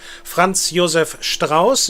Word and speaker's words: Franz Josef Strauß: Franz Josef Strauß is how you would pronounce it correctly.